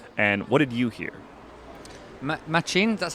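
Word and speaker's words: Matxin: Machin, that's how you pronounce it, right?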